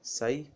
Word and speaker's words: psi: इसका अंग्रेजी में अगर नामकरण किया जाए तो PSI और उच्चारण किया जाता है साई, P साइलेंट रहता है।